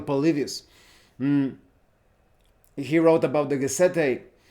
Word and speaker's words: Polybius: The Roman historian Polybius, if I remember correctly, because in Spanish it's Polibio, but that's probably Polybius.